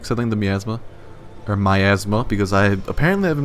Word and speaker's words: miasma: we actually CU I think the miasma or my Asma because I apparently I've been mispronouncing it it's my Asma and not miasma so I don't know if I want to